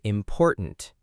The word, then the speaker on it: important: And important, im por tant. Stress on the second syllable again.